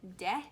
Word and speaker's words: Te: In the book, it is pronounced De, so I'm gonna pronounce it De.